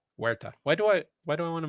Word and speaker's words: Huerta: No, Huerta. Huerta. Why do I want to make it Jewish? H is silent, bro. Remember, Brad. The H is Huerta.